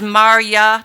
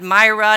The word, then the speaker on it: Marya: I don't want him to have to mispronounce my name, which is Marya, not Myra, not Mayra.